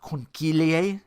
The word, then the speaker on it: conchiglie: I think they are conchiglie type of pasta. Yeah, another thing I had to look up. Because here's the word. Here's how you say it. There's no K in it. Conchiglie.